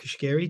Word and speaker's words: Cuschieri: this episode I'm very happy to introduce Kiri to the conversation welcome welcome thank you